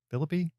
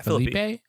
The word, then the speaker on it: Phillippe: cooper and ryan phillippi philippe how you say it yeah felipe it's not felipe no ryan phillippe laura linney and other